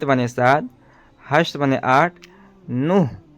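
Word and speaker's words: نه: سات، ہشت معنی آٹھ، نوح یہ اس کا تلفظ صحیح تلفظ ہے نوح.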